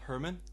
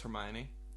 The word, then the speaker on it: Hermione: I always called Hermione Herman.